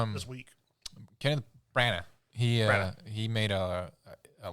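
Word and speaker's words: Branagh: Brana.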